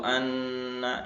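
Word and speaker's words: أَنَّ: Seharusnya dibaca wa asyhadu anna, ya ini pendek, wa asyhadu anna muhammadar rasulullah, tapi dia membacanya wa asyhadu anna muhammadar rasulullah ya, atau wa asyhadu anna muhammadur rasulullah, baca seperti itu. Maka ini merubah makna. Kalau anna ya, anna pendek nggak ada alifnya, berarti maknanya adalah ini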